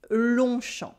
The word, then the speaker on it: Longchamp: We also have a silent G and a silent P because un long champ is literally a long field. The G and the P is silent in each of those words. And when the words are mashed together to form a noun, we keep their pronunciation.